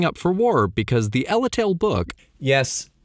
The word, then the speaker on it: Ellale: We know is gearing up for war because the Ellale book, yes, Ellale, not Eltale. Even though in the Japanese version it's spelled without the E, in the American and European versions, which came first?